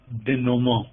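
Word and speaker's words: denouement: untying the notes or as the french says de nomo it is written down you meant but it's pronounced de nomo the ghost scene is important it shows the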